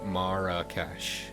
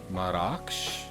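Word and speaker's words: Marrakesh: looking like it it's the generally accepted English pronunciation in Moroccan it's apparently pronounced with two syllables marak I'll go with the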